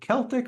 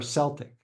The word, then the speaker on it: Celtic: bring it back—Is it Celtic or Celtic? Paul: It’s a minimum dollar question, and there’s no definitive answer. In sports, it’s often pronounced “Celtic,” like the Glasgow Celtics, but when referring to the people, it’s “Celtic.”